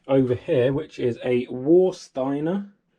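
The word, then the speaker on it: Warsteiner: here which is a war steiner or vorstein i think they pronounce it with a v uh family tradition since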